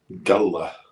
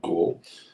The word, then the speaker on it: Galle: Galle, which they pronounce it, not Gaul.